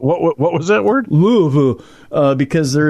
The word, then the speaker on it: Louisville: what was that word Louisville uh because there it's it's Louisville because there was a King Louie in France King Louie uh there